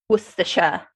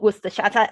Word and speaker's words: Worcestershire: It's like, why is that letter silent? Like the first time I understood that Worcestershire is called Worcestershire. You cannot possibly say such a short sound with such a long word.